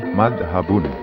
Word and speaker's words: mazhab: Pengucapan Arabnya berbunyi madhabun, tetapi orang Indonesia mengucapkannya dengan bunyi mazhab.